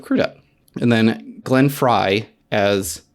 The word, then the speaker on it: Crudup: almost famous you said Billy krup instead of crudup and then Glenn Fry